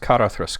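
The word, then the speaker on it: Caradhras: Well, at least he pronounced Karathas correctly.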